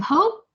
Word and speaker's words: hope: the fan okay h-o-p-e so there's a silent E so when you pronounce this long all look at my mouth first Big O O that's it it becomes smaller like Oh and it shrinks oh so that's when you say hope hope Ray of Hope